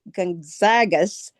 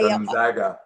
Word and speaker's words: Gonzaga: Well, when I hear you say Gonzagas, is that how you pronounce it? I Gonzaga. Yes, Gonzaga.